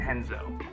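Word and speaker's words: Renzo: names with art but in brazil that's going to be pronounced h because of portuguese so that's where you get names like horion and henzo the whole sport is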